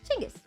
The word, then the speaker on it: Chinggis: Because if I know it, I just feel better saying Chinggis. Chinggis Khan. May as well say it right.